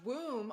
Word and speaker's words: womb: womb oh my gosh womb also rhymes with room because that's the also